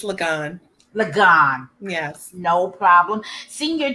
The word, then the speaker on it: Liggon: Did I pronounce that right, Donna? It's Liggon.